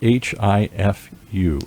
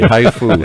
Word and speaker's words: HIFU: And HIFU is just like it sounds, H-I-F-U. Just like the Japanese spell it, yes. Okay, it's not a haiku, it's a HIFU here.